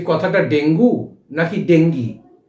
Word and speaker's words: dengue: বিশেষজ্ঞরা বলছেন এটি একটি স্প্যানিশ শব্দ থেকে এসেছে, তাই এর অরিজিনাল উচ্চারণ হওয়া উচিত ডেঙ্গি। আবার অনেকের মতে হচ্ছে DENGUE যে বানানটা আমরা লিখছি, সেখানে শেষের ইটা সাইলেন্ট থাকে, তাই এটাকে ডেঙ্গুই বলা চলে। তবে ডেঙ্গির দিকেই কিন্তু পাল্লা ভারী, তাই ডেঙ্গি উচ্চারণটাই যথাযথ বলে বিবেচনা করবেন।